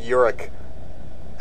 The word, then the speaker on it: Yorick: It wasn't York. You kept calling yourself York, but it's Yorick.